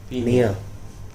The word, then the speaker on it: pnea: Nia. Pineal alla madhu. No, PNEA. It is not PENA. It's Nia.